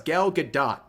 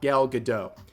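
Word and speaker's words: Gal Gadot: to gal uh galgadot I keep wanting to say galado do all these YouTubers they gasl me into thinking that's how you pronounce it it's been going on for months and months turns out it's galgadot not gal gdau but anyways uh you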